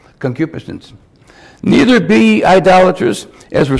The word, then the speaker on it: concupiscence: then that's the red that's how you pronounce it concupiscence neither be idolatrous as